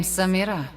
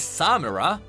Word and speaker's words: Samira: Most people think it is Samira, but it is Samira, with a nice Shuriman accent.